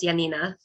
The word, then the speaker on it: Janina: And my name is actually pronounced Janina.